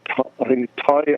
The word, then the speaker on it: Ty: His name is Ty Isaacs. Yeah, it's called. His name is Ty, but it's spelled like a thigh, like your thigh bone.